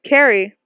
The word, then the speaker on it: Carrie: It's pronounced Carrie, like a K.